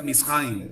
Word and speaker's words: Mizraim: pronuncia Misraim, Ajá. ¿vale? Con el acento a la A, Misraim.